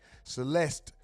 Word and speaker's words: Celeste: still a suspect in the death of Select Rez Rivas Hernandez. Police say Celeste Rivas Hernandez. I said her name wrong said Select.